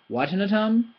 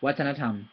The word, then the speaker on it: วัฒนธรรม: I've heard wattanatam, wattanatam, wattanatam. It's none of those. It's wattanatam. They're all equally stressed. Okay. You can't stress one more than the other. You pronounce them according to their tones.